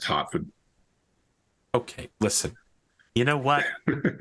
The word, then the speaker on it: Hertford: Having been there, despite the way it's spelled, it's actually pronounced Hartford.